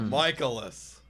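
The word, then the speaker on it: Mikolas: Michaelis. We used to remember pronounce it like Nicolas.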